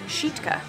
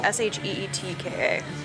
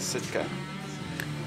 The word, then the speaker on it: Sitka: It's actually pronounced. Sheetka. So S-H-E-E-T-K-A. Sheetka. Mm-hmm. I think everyone just says Sitka. Everyone says Sitka.